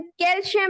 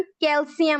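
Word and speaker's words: calcium: Everyone, इसकी pronunciation कैल्शियम नहीं होती है, इसकी प्रोनाउंसिएशन कैल्शियम होती है।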